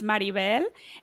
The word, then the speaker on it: Maribel: I will just say I would correct you slightly so it's marivel and then my last